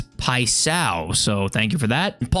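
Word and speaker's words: Paixão: Cohen says 755, you say Paisao. So there's like a new Brazilian guy come in the game, and it's like P-A-I-X-A-O. So I was wondering how to say his name, and apparently it's Paisao.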